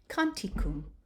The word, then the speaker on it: canticum: Canticum, confiteor, corpus, cuius, locus, seculi, factus, cherubim, Christus, and cruce.